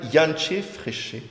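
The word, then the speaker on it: Jantje Friese: ouais, Bon, c'est prononcé voilà. Yanché Fréché.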